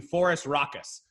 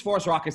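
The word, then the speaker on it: Phorusrhacos: to look down at the pronunciation forest raucous so this is for us raucous this is probably the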